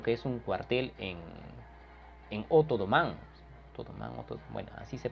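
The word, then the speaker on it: O'Donovan: O sea, ambos van a asaltar lo que es un cuartel en Otodomán. Bueno, así se pronuncia.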